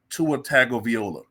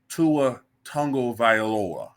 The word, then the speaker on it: Tagovailoa: I'm looking at it I want to say tu a tag of Viola but apparent apparently his name is Tua tongo viora man that's hard to